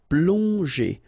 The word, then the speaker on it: plonger: Okay, remember that here you've got these two letters, so pl together, on, plong, and then g and e, normally that's the sound j. Okay, so here you get, obviously, as usual, the ending er, so you pronounce it e, so plonger. Plonger.